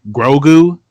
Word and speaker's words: Grogu: the future that we do see uh older grogu did i pronounce his name right yeah you got it